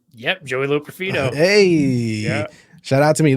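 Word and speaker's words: Joey Loperfido: both of those things we talked about um Joey La profo did I pronounce that right yep Joey L profo hey shout out to me listen that is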